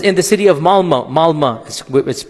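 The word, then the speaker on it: Malmö: Malma is it's spelled with an O but it's pronounced Malma.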